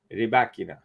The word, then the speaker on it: Rybakina: I think the whole tennis community ought to pronounce the Wimbledon championships champion's name correctly. Rybakina.